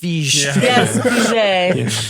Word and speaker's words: Feige: Actually, it's pronounced Fij.